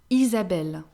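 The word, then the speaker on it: Isabelle: remember in french the h is actually not pronounced name starting with i we have isabella isabel isabel we can just can sometimes be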